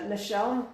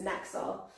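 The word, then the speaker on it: Naxxar: There's a place called Michelle which is spelled N A XX A R and it's like usually GPS says Knax.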